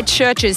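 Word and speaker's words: CHVRCHES: Now, I'm thinking Recover by Churches, spelt with a V, interestingly enough.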